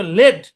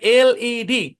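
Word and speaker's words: LED: section টুতে দেখাইছিলাম তো প্রনান্সিয়েশন রুল অনুযায়ী এটার উচ্চারণ হওয়ার কথা ছিল লেড কিন্তু এটার উচ্চারণ লেড হবে না ভাইয়া কারণ এটা একটা এব্রিভিয়েশন হ্যা এখানে আমাকে কি করতে হবে প্রত্যেকটা ক্যাপিটাল লেটার আমাকে স্পষ্টভাবে উচ্চারণ করতে হবে বলতে হবে এলইডি এই যে বললেন যে আজকে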